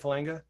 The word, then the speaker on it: Falanga: Falanga, yeah. Is that how you say it, Falanga?